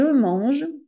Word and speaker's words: mange: Alors, je mange, le E, c'est le son du 2. 1, 2, 3, 2, je mange. Comme il y a un E muet, la dernière lettre, le dernier son que je prononce, c'est la consonne.